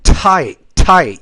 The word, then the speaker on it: tight: the time gets so tight. You have to pronounce that T with more air, so it doesn't sound like a D, right?